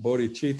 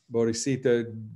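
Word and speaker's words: bodhicitta: the others and it's called bodhichitta or bodhisito pronounced in different ways depending on on where you went to school but that is compassionate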